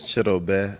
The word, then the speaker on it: Chidobe: No, so the name is Chidobe, Awuzie. If you want to say it in the English language, it's Chidobe, Awuzie.